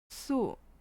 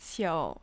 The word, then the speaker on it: 宿: 日月盈仄，辰宿列张 or 宿, but it is also pronounced su nowadays. Which I made an error at the beginning. It's pronounced xiao or su.